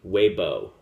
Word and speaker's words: Weibo: a Chinese uh social media platform uh it's pronounced weibo w-e-i-b-o it's a social media platform for uh